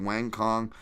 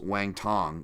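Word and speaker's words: Wang Cong: podcast on Asian MMA Wang Kong is uh actually pronounced Wang Tong the C's are T's and Mandarin Wang Tong there we go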